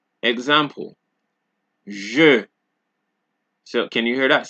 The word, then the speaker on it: je: So the J in French is pronounced similarly to S in the word pleasure in English. Example, je.